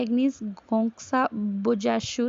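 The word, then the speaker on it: Agnes Gonxha Bojaxhiu: इसको प्रोनाउंसिएशन कुछ इस तरह से करते हैं, एग्निस गोंक्सा बोजाश्यू था।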